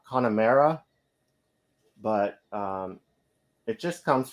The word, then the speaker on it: Connemara: of Ireland and it's I think it's pronounced uh Connemara but um it just